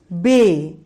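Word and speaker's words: بے: The second is Bay, B, A, Y, Bay.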